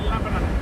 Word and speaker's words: Lebanon: I forgot. It's pronounced Lebanon. Not Lebanon.